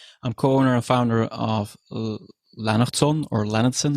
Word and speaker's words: Lennertson: co-owner and founder of lanon or lenardson if you want to pronounce that a little bit more Anglo-Saxon but that's l e